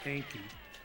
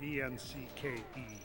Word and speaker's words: Encke: So, and it's spelled a little different, E-N-C-K-E as opposed to E-N-K-I.